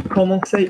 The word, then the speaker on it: commencer: So commencer, notice it starts with a C. There's no cedilla. There's an O after it, so it's k.